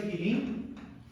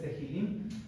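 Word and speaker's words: תהלים: Ok, entonces, en griego, bueno, el título en hebreo es Tehilim. Creo que la H se pronuncia como J, o sea, lo estamos viendo ahí como si fuera en inglés, Tehilim.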